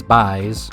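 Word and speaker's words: b'ys: a good amount of my favorite newfoundland pronunciation That is “b’ys” Meaning boys if you couldn’t figure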